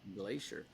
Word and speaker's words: Glaeser: are here with Zach Glacier is that how you say it Glacier yeah Glacier so my name is